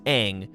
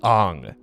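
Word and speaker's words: Aang: things in the show the kid's name is eng but in the in the movie it was ong and it was saka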